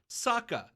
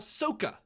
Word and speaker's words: Sokka: Like, this is a television show that had actual pronunciations in the show. Right. Then you have you know, other main character Sokka, who they call Soka.